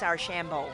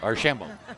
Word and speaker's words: Archambeault: Well, Don, I'm going to have to just tell you got to learn how to pronounce her last name. It's Archambeault. Archambeault.